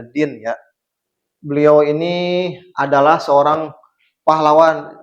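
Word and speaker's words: Dhien: Jadi ini dibacanya Din ya.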